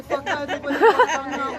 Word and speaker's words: whakaruatanga: The two consonants which stand out, the WH, which sounds like the PH, as in photo or physical, the NG, which sounds like the end of the word sing, so it's a ng sound.